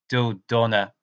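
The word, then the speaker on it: Dodonna: his name is general john who doughnut so do Donna salty that's how you say his name he's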